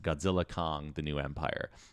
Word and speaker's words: Godzilla x Kong: this film is pronounced Godzilla Kong the new Empire the x is silent this is a movie